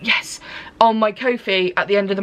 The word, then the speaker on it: Ko-fi: that I will be putting up on my Ko-fi. I said it right, yes, on my Ko-fi at the end of the month.